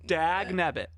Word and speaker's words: dag nabbit: Dag nabbit.